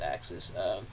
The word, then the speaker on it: AXS: I think it is pronounced Axis.